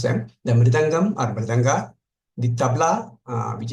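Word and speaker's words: mridangam: uh you mentioned different instruments I would just pronounce them the midangam or balanga the tabla which is of course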